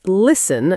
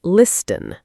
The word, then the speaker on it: listen: And listen is another one. The t is silent. Right. It's listen not listen.